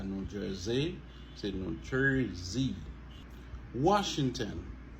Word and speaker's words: Washington: Washington. Alors, O-N à la fin des mots, lit toujours prononcé comme N. Ok? Washington. Question. Nation. Population. Ok? N.